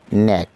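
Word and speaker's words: knack: Silent letter with কে, যে সমস্ত ওয়ার্ডের কে উচ্চারণ হয় না তা নিয়ে আজকের আলোচনা। প্রথমে আমরা দেখছি ন্যাক, দক্ষতা।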